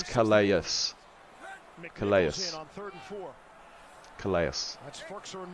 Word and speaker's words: Calais: You still pronounce Calais wrong. It's Calais.